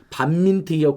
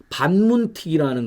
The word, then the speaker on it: 반민특위: BBK 이명박이 설립했는데도 자위대 50주년 모르고 왔다는 거지만 반민특위가 국론을 분열시켰다고 해서 난리가 나니까 반문특위라는 걸 발음을 잘못했거든요.